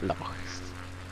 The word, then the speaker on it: lochs: Yes, that's how you say it, lochs.